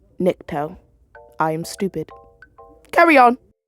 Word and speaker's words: Nikto: Flip Niki n I think his name is Nikito. Nikto. Future fame here. It's pronounced Nikto.